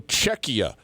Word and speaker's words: Czechia: to want to say Czechia. Evidently, it is technically Czechia. It's a hard, the CH in the middle is actually a K sound. So Czechia is now the new name of the country.